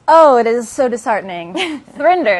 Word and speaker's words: Thrinder: Thrinder, it's called. So it rhymes with Tinder.